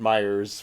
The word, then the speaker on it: Meijers: so it was called Meijers with an S. Point. Oh, so we're just old school. And I think maybe, our parents had always just called it Meijers for short.